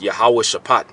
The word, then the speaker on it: Jehoshaphat: And in Hebrew is pronounced Yahweh Shaphat, which means Yahweh's judgment. Okay.